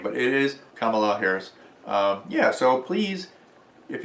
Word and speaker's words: Kamala: But it is Kamala Harris.